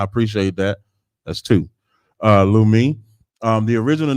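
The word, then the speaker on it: Leumi: That's the original name of the bank Lu Lui if I'm saying it wrong. Lumi. Yep, I appreciate that. That's two. Uh, Lumi, um, the original name was Jewish Colonial Trust.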